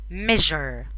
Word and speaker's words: measure: التركيبة دي SURE اوقات كتيرة جدا بتتنطق جر. في 3 نقط على الجيم اهي، صح؟ ج ج لا، دي تتنطق ج. جر. measure يقيس. measure.